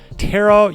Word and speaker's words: Tera: really liked the game Terra it's spelled t-e-r-a it's called Tara online I played it when